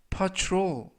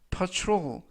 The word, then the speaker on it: patrol: 이번 표현은 patrol, patrol, patrol 이라고 발음하시면 되겠고요. 이때 유의하실 점은 tr 발음이 true, true, 그래서 patrol 이라고 발음하시면 되겠습니다.